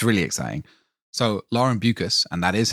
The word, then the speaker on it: Beukes: it's pretty exciting it's really exciting so Lauren buas and that is how you pronounce her name cuz she did send me